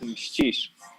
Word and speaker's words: Mścisz: But when you pronounce it in Polish, it will be Mścisz.